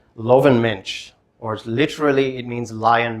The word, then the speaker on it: Löwenmensch: It's known as to pronounce this correctly, Löwenmensch, or literally it means lion man.